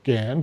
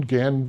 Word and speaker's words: GAND: So GAN GAN rhymes with hand or other things and stuff and they formed the parental group with with me working together.